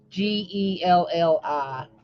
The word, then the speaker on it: Gelli: So Gelli, jelly, like that, spelled like that.